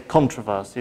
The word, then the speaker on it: controversy: Because as far as I remember, we've got two pronunciations of controversy. You can also say controversy, you can say controversy.